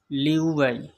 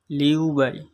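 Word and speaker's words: 六百: হবে উবাই উবাই উবাই 600 600 চায়না ভাষায় উচ্চারণ হবে লিউবাই লিউবাই এভাবে আপনারা মনে মনে বলবেন তাহলে অল্পদিনের মধ্যে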